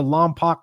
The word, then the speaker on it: Lompoc: In fact, we just sent one out to Lompoc, California yesterday. Think that's how you say it, Lompoc?